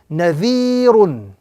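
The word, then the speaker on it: نَذِيرٌ: So this example would be correctly pronounced nadhirun, with the emphasis or the prolongation on the second letter, again because of ya madda.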